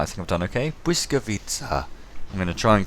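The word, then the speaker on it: Błyskawica: Blyskawica.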